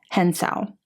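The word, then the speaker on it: Hyeonseo: girl with seven names I had to look up how to pronounce this first name because I did not want to mess it up and what I got was Hensel Lee this is a non-fiction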